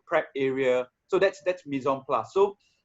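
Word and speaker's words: mise en place: actually shared this phrase with me it's called mison plus right it's pronounced mison plus uh i don't know some of you might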